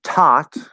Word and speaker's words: taught: And then taught, TAUGHT. This is exactly the same as thought, except instead of a TH at the start, we have just a regular T sound.